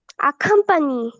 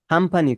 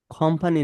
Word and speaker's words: accompany: accommodation accommodation accompany accompany accompany accompany খামপানি, খামপানি, খ আছে। খামপানি, accompany কোম্পানি না, কোম্পানি না। accompany খামপানি, খ এর পরে আছে, সাউন্ড আছে। খামপানি।